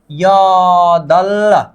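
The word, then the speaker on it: 여덟: अब र और ब नीचे आने पर उच्चारण किसका होता था, ल का होता था, यदल। नीचे आने वाले हर चीजों का उच्चारण आधा किया जाता है बल, इसका उच्चारण क्या होगा, अब यदल होगा, क्या, यदल।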